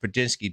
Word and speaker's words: Prigioni: But I do pronounce Prigioni correct, cuz it is pronounced Prigioni, believe it or not.